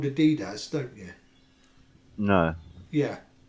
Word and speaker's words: adidas: that around yeah yeah and everybody calls it adidas but you know you know the brand is actually called adidas don't you no yeah it's supposed to be pronounced adidas okay yeah short cold day he's got a